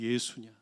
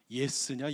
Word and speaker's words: 예수: 그분이 예수냐, 예스냐, 예수냐, 발음도 똑바로 해라.